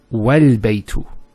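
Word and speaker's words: والبيت: It's wal-baytu. So this is not pronounced because it's in the middle of a sentence.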